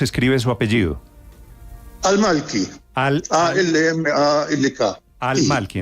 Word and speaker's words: Al-Malki: Al-Malki, entonces no es Malki, sino Al-Malki. Es que el A-L es como el artículo en español.